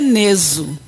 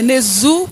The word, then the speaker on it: Nezu: Segundo meu pai, é Neso. Agora, segundo a pronúncia popular, né, é Nezu, que é mais fácil, né?